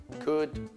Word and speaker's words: could: Quelli più importanti in inglese, quelli più usati, would, could, should, non si pronuncia L.